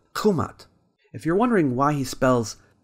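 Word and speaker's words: Kemet: Scholars think maybe the original pronunciation of the word was Khumat.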